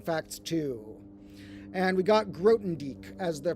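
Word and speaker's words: Grothendieck: And we got Grotendieck as the pronunciation according to Wade Eberly, or Wade says he thinks.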